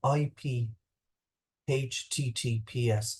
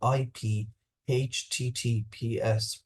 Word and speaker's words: IP-HTTPS: will fall back to using IP HTTPS, pronounced IP over HTTPS.